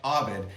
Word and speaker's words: Ovid: and letters from you, we know that writer mentioned at the end is usually pronounced Ovid, but he's been dead for like 2,043 years, and you can pronounce somebody's name any way you want at that point.